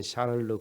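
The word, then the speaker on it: Charles: 이 프랑스의 찰스 9세라고도 하고 영어식 표현은 또 프랑스식으로 발음하면 샤를르 9세가 이 토르쿠아토 타소라는 시인에게 물어봤다고 합니다.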